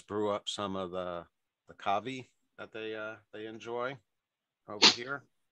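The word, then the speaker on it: Ka'vi: You guys brew up some of the kavi that they enjoy over here. Kavi? I think that's the way it's pronounced. Kave if you're French. K-A apostrophe V-I.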